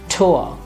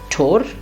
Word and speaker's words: Tor: Continuing with the same logic, we now have O and R, and again the pronunciation is going to be O and not or. So this word becomes Tor. Yeah, not Tor, Brandenburger Tor, no.